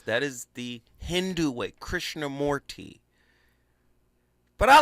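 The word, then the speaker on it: Krishnamurti: Krishna Morty, but I like Krishna Merty.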